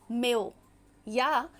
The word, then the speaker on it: Mayo: Classical theorist के नाम को मैंने बताया। नियो क्लासिकल में एक पर्सनालिटी जो बहुत फेमस रही या मैं कहूं वह पायोनीर रहे। वह हैं एल्टन मे या कुछ लोग प्रोनाउंस करते हैं एल्टन मायो उनका हॉथर्ड एक्सपेरिमेंट जो